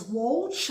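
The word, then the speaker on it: Whulge: Americans and environmental groups refer to the sound as Walch uh that's spelled whu l GE and I'm sure I'm mispronouncing it um but that is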